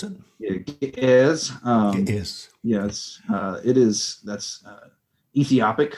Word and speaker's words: Ge'ez: Is that how you pronounce it? It is, Gies.